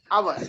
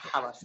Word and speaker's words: hours: Hours, not hours. Hours. H is silent.